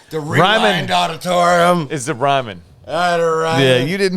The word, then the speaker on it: Ryman: ] number one game you get play the Ryan leave Ryman sorry Ryan Ryman what' you call it Ryan so I just wouldn't pronounce it right Ryman Auditorium in Nashville what'